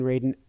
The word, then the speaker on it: Radin: I still can't pronounce his name right. Sorry, Dean. Dean Radin? Uh-huh. Yes, Dean Radin, about life after life.